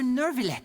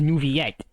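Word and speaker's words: Neuvillette: Oh, Monsieur Nervillet. Getting What interrupted. an honor it is to have you here to see my show. Okay, so it's pronounced Nouvillette. I thought it was Nouvellette.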